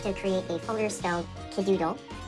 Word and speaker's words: Kidoodle: You have to create a folder still Kidoodle. K I D O D pronounced Kidoodle or K I D O O D L E.